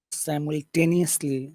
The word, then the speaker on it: simultaneously: which one is better simultaneously simultaneous simultaneously say t t t is mul simult simult simultan so no simultan simultane simultane simultan make the T big though simultan simultan